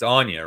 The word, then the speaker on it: Anya: It's Anya, right? Anya, yeah, it's Anya. It's Anya Well, Taylor-Joy. shit, I always say Anna, but hey, dude, I get it, man.